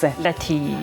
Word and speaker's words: Latig: Latig. Latig, guys. You better say it like that.